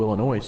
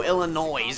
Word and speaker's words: Illinois: guys from uh Chicago Illinois here you're not even from Chicago and it's not pronounced Illinois the S silent how do I know